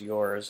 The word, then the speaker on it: URS: URS, pronounced yours, is a revolutionary new collectible created by a global team based in Korea, US, and Germany.